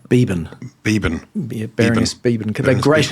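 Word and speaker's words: Beeban: Beban.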